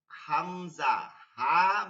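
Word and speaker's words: همزة: হয় ঠিক আমরা যখন হামজা বলতেছি তখন হামজা হা মিম জা শেষে আবার গোল তা গোল হা হবে হাম জাহ এখানে প্রথমে হা লাগতেছে মিম লাগতেছে যা লাগতেছে আবার হা লাগতেছে হাম জাহ এইটা নামের ক্ষেত্রে ওই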